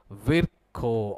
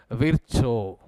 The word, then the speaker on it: Virchow: This was given by a Russian scientist called as Rudolf Virchow or Virchow. Okay, this was given by a Russian scientist called as Rudolf Virchow or Rudolf Virchow. You can pronounce it either ways because anyhow he is not there now.